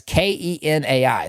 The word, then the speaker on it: Kenai: And by the way, that's K E N AI. That's pronounced Kenai.